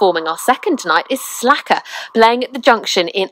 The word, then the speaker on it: Slackrr: And so for those that won't, it's spelt as in Slack, S-L-A-C-K, and then two R's, rather than that's E and right, R, yeah, Slackrr.